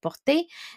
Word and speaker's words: porte: So remember that the ent, when you pronounce it, it is silent. You do not pronounce it at the end. You just say porte.